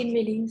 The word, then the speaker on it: Emeline: ¿Emeline se pronuncia el nombre? ¿Está bien o no? Hola, Hola, ¿está bien así dicho? ¿Emeline? ¿O no? Emelín, sí. Emeline, muy bien, ahí está.